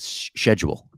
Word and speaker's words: schedule: Bo-Katan said schedule. Get my scheduling. Yes. Yeah. I like that. I was like, oh yeah, get that C out of that word in the Star Wars universe.